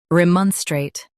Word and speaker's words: remonstrate: Remonstrate. U.S. stress mon. UK soft rem.